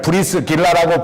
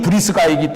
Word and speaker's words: 브리스가: 아굴라라고 하는 사람이 나옵니다 옛날 성경에는 브리스가를 브리스 길라라고 불렀는데 정확한 발음에이 발음이 브리스가이기 때문에 새로운 성경에는 이름을 브리스가로 바꿨습니다 브리스가가 아굴라는 로마의 살던